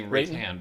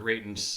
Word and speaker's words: Reitan: I keep wanting to say Rathian, but it's Raiden the way that the way they've been pronouncing it.